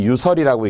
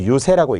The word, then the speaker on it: 유세: 꿰는 것, 꿰서 달래는 것, 꿰서 달래는 것이 유세라고 하는, 달랠 세라고 도금이 되기 때문에 이때는 유설이라고 읽지 않고 유세라고 읽습니다만 꿰고 달래다 이런 단어여야 되니까 전혀 다른 단어입니다.